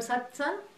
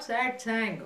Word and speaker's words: satsang: And what, that's why it's called satsang. It's not satsang, okay, yeah. Even though all you do is sit and sing, you still have to pronounce it satsang.